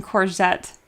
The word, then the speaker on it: courgette: All right, Bunny says, you do pronounce the T in courgette. Oh, I'm so nervous about saying this. Courgette. The double T followed by an E means you pronounce it.